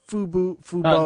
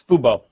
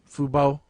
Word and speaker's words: fubo: i don't know exactly how you pronounce fubo or if it's fubu or whatever it's fubo fubo well so yeah but